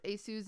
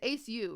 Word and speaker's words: Aceu: um when minks pronounced asu's name it was hilarious it's aceu right and i always say asu acu ace you yeah see i don't